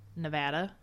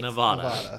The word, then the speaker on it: Nevada: Nevada. which is 100% how that's pronounced. It's definitely Nevada.